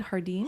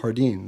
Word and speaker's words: Jardin: dispensary you pronounce it Jardin Jardin the J is silent how did you get